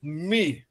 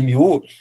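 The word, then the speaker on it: μ: É que na verdade você escreve ele que é em grego, né, com o com muu, mas não é mu. É como se fosse, se tivesse falando até em francês, eh, seria mais assim, me tá, e não mi.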